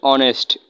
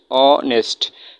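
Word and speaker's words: honest: এর উচ্চারণ হয়েছে। অনেস্ট অনেস্ট।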